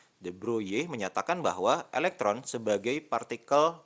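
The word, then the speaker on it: de Broglie: teori the broye ya Kalau tulisannya itu di broglie tetapi bacanya teori the broye menyatakan bahwa elektron sebagai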